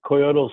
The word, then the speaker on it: Coyotl: Hello, this is Coyote Smoke and Mirror calling from Los Angeles.